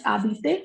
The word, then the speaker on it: habiter: For example, adorer means to adore, and habiter, to live. This is habiter because H is a muted consonant here.